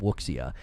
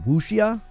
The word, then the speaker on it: wuxia: So we again could be dealing with a game that Wuxia, it's pronounced Wuxia or Wuxia.